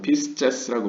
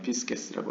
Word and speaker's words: Pisces: 제가 발음하는 라틴어는 다 고전 라틴어라고 보시면 되겠습니다. 로마 제국 시대요. 그래서 피스제스라고 뭐 이렇게 표현 안 하고 그냥 피스게스라고 하겠습니다.